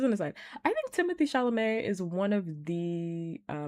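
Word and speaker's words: Chalamet: I just like calling him Shalamu. Um, I know his legal name is Timothy Shalamé. I understand how to say it. I'm saying it wrong on purpose because I dislike him.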